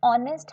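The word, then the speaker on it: honest: B नहीं, option D इज the correct answer, undermined N, क्योंकि ऑनेस्ट है, vowel की साउंड से स्टार्ट होता है इसका प्रोनाउंसिएशन, तो option D इज the correct answer for this question.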